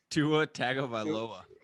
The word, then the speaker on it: Tagovailoa: how to say his last name is otago tua tagovailoa um i'm gonna go with the dolphins this